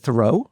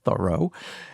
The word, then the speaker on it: Thoreau: who annoyed Henry David Thoreau, I think it's actually pronounced Thoreau, and who everybody thought was a joke.